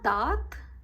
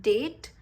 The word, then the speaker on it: date: It is ma date d'anniversaire. Go slow with this. Ma dat. It's not date. In English it's date, in French it's dat.